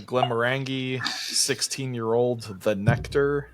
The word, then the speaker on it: Glenmorangie: All right, number 8, Glenmorangie, 16-year-old, The Nectar. Glenmorangie. Thanks for fixing my pronunciation.